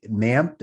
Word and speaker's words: MAMP: i've not tried with mamp is that what it's called i always forget how it's pronounced yeah it's mamp i i call it map m-a-m-p okay yeah and it's